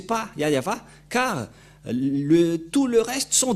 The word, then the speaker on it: Yahvah: Ne prononcez plus le nom du Dieu d'Abraham et de Moshe si vous ne prononcez pas Yahva, car tout le reste sont des faux.